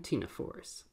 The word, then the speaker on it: Ctenophore: talk about cnidarians and ctenophores. So, phylum Cnidaria. This is one of those strange Latin words with a silent C, but we'll see that also will be true for our next phylum, phylum Ctenophore.